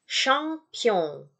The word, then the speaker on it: champion: Champion, bukan caham, ya, bukan sam, tapi champion. Champion.